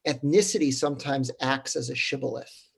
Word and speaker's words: shibboleth: what is this bundle of wheat, which is pronounced shibboleth? And some literally couldn't say the shin sound. So they would call it sibboleth.